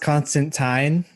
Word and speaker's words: Constantine: people so yeah also it's it's it's it's pronounced constantine but everyone says i mean that's that's what